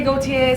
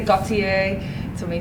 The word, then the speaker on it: Gotye: And so, I just have started to say, well, however you pronounce Jean-Paul Gaultier's surname, that's it.